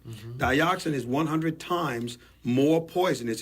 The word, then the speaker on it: dioxin: It's called dioxin. Mm-hmm. Dioxin is 100 times more poisonous. It's spelled DIOXIN, dioxin.